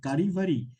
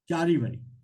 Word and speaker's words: Charivari: But one more thing, I have seen, that, how do you pronounce it? Karivari, that punch. Charivari.